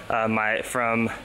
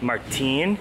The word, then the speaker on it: Martin: But honestly, remember I went on that run last night, just walking 10 minutes here from Martin. He told me last night, it's not Martin, it's Martin. Hard pronunciation.